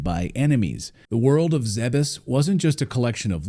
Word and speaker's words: Zebes: Yes, it's officially pronounced Zebes. If you spell it phonetically, we'll even put it up here on the screen. It's ZEH-BESS.